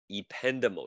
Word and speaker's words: ependymal: cells they are called e pendable cells that's how you pronounce them ependymo cells the epentimal cells are